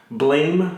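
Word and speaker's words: BLAME!: they already said there's going to be another Blame movie. I know it's pronounced Blom for some reason.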